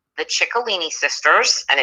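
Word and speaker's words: Ciccolini: it says CI CC a li ni yep chicolini cuz in Italian when you pronounce the CI it becomes oh I got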